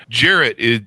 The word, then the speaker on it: Jarrett: And we're going to be talking with Charles Jarrett today. Charles, did I get your last name correctly there? I didn't understand your question, sir. Jarrett, do I have Is that the correct pronunciation of your last name?